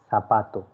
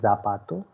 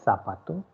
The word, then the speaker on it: zapato: pronunciation part very carefully it is zed so sir sound should be there so it is sabato don't say zapato so el sapato and the next one